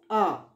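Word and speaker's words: hour: Sanya left after an R. Here, R started with consonant letter, but H is silent here and this word begins with the vowel sound O.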